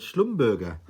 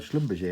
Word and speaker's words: Schlumberger: of them was didn't even know how to pronounce the name of the company. I was calling it Schlumberger. But yeah, so as soon as I got there, they started talking about Schlumberger.